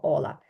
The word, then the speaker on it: hola: переважно ми всі кажемо ола ола ола ола Отже це перше слово яке ви прочитали і я сподіваюсь що ви запам'ятаєте що ця літера яка схожа на Н ніколи не читається наступна літера про яку